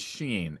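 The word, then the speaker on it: 心: Well, But the yeah, character that gets translated as heart is Sheen. Xin would be the way we would spell it out in Pinyin.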